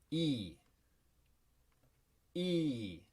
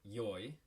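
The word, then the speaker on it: いい: it sounds like this e e so there's a longer vowel sound and this can also be pronounced yoi um as in for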